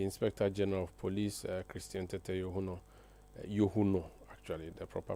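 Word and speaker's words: Christian Tetteh Yohuno: We are coming to you from our studios in Ara and uh you've heard the inspector general of police Christian Tetuno Yuno actually the proper pronunciation of the name speaking in Aquetia where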